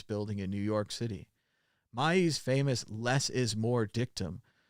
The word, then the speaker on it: Mies: Mies, not Mises, I said it wrong earlier.